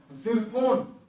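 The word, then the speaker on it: Zircon: जहाज से 10 नई जिरकोन, ठीक है, अब इसको आप प्रोनाउंसिएशन आप उतना अच्छे से नहीं कर पाएंगे, यहाँ पर जो है वो टी साइलेंट है।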